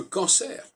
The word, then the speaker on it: cancer: Qui est capable de distinguer le cancer du concert? Parce que là, nous avons deux mots qui ne s'écrivent pas de la même manière et qui ne sont pas censés se prononcer de la même manière. Le on, c'est pas le en.